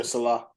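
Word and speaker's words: Saleh: Obviously, the answer to go with is McDermott, but I got to go with Robert Salah. Is that how you say his name? Yeah, Salah.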